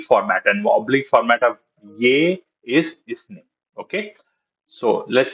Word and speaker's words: यह: And then you said yah. Okay, we don't pronounce the her, we only say ye.